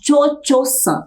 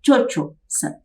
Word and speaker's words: Cho-Cho-san: Bem, Madame Butterfly é essa moça que se chama Cho-Cho-san, é assim que se pronuncia, Cho-Cho-san, que quer dizer Madame Butterfly ou Senhora das Borboletas.